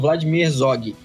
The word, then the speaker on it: Vladimir Herzog: Como é que pronuncia? Isso, é isso mesmo. Instituto Vladimir Herzog.